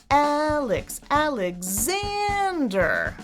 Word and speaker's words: Alexander: It's the highest, the longest, and the loudest syllable. Xander. But there's what we call secondary stress on the 1st syllable. It's not 0 stress, it's right in the middle. Alexander.